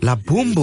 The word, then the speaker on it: La Bambu: La Bambu.